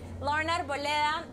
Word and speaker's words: Lauren Arboleda: That's the how you pronounce it, the Colombian way. Lauren Arboleda.